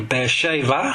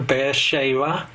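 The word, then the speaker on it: באר שבע: here you can see bear shaver which is how you say it in in hebrew bear shaver and he travels well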